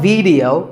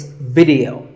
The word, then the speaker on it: video: The important thing is that both the I and the E are pronounced as short I sounds. It's not video, it's video.